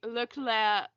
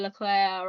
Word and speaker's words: Leclerc: It's the same way I say Leclerc instead of Leclerc. As I know, it's not pronounced Leclerc, but I always say it like that.